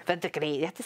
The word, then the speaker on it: verdigris: Verdigris. Verdigris. Verdigris. You have to say that with an accent. You have to roll your R's on that one, do you, Callie?